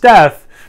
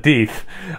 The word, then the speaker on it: Deef: I know you think it's pronounced death, but at the brewery they call it Deef, like rhymes with teeth.